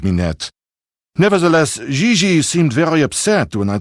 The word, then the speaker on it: Gigi: Gigi. En français, you pronounce G like J and J like G. She may very well be JJ in America, but in France, she is Gigi.